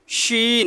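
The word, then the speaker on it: شين: Scene, শিন, একটু শক্ত করে জিহ্বার মধ্যখান থেকে উচ্চারণ করবেন শিন।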